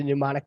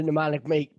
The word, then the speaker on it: pneumonic: And they do have the pneumonic plague listed. Wow. It starts with a P. It's PP, pneumonic. The P is silent.